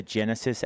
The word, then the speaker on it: Genasys: One of the big ones is always about evacuations, and so we want to really encourage folks to download the Genesis app. It's spelled Genasys.